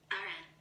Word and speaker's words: Iran: A drone strike in an Iran, how do you say it? In American English. Iran.